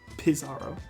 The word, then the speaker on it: Pizarro: Pizarro.